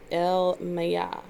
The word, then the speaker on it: Elemiah: This angel's name is Elemiah, and it's spelled Elemiah. It sounds like Jeremiah almost.